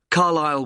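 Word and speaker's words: Carlisle: i s l e you don't pronounce the S carile way and that's in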